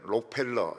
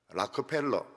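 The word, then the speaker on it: Rockefeller: 참 최고 부자입니다 우리는 록펠러 이렇게 하지만 미국 사람들은 록펠러라고 안 합니다 라코펠러 이렇게 부릅니다 우리 동북외에는 항상 원문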